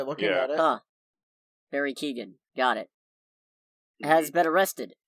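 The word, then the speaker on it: Keoghan: things they could have picked moving on barry kyogen kyogen is that he pronounced it that's how i would pronounce it by looking at it huh barry keegan got it has been arrested and then released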